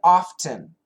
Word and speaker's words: often: Anton, should I pronounce the T in often? You can. We do both. I would guess 70%, just a guess, of the time I don't. And 30% of the time I do. I say both.